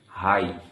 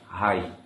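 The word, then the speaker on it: high: একইভাবে এইচ আইজি এইচ হাই হাই। এখানে দেখো জিএইচ এর আগে আই এর উচ্চারণ আমরা পাচ্ছি কিন্তু জিএইচ এর উচ্চারণ হচ্ছে না।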